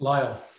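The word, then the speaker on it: Lisle: Is that how you pronounce that, Scott? I've always. Lyle, Lyle.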